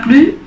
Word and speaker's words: plus: a gritar a gritar fijaos que la s de la palabra plus no se pronuncia en general la s al final de las palabras no se pronuncian a fritas hasta pronto